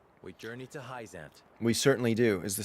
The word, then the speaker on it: Hyzante: we journey to heisent i think i've been saying hyzanti this whole time but you heard it from the mouths of babes it's pronounced heisent i don't know why